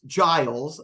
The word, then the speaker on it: Giles: today his name is Giles a soft G Giles uh Giles if